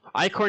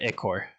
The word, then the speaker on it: Ichor: that this is ico is it i-cor is that how you pronounce it or is it it core i guess i want to make sure i'm saying that right too icor okay cool oh and also uh